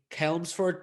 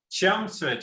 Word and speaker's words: Chelmsford: out that you went to high school in helmsford just outside of london i don't know if i'm pronouncing that right did you grow up there chelmsford yeah absolutely yeah i grew up there any